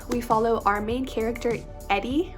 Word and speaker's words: Edie: follow our main character Edie, or Edie, not sure how to pronounce her name. It's E-D-I-E, Edie, I believe.